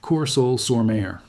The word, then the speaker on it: Courseulles-sur-Mer: A German Hauptmann of the 716th Static Infantry Division stands in a concrete observation post above Courseulles-sur-Mer, pronounced Courseulles-sur-Mer.